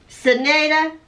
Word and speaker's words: Serenata: First of all, there's no G in that. Serenata. Well, how would you say that?